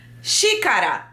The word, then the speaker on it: xícara: Eles não conseguem pronunciar o X. Porque tem um som diferente.